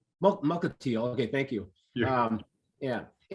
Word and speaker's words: Mukilteo: I think I'm pronouncing that right. Mukilteo. Mukilteo.